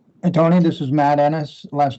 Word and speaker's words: Ennis: thank you okay thank you Eric uh mad Dennis from Presque Isle Matt hey Tony this is Matt Ennis last name is spelled e-n-n-i-s we are underway with our season